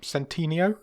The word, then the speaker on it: Centineo: How do you pronounce this guy's surname? Centineo.